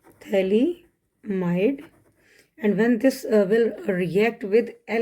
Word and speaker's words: phthalimide: PH यहाँ पे silent है, थैलीमाइड।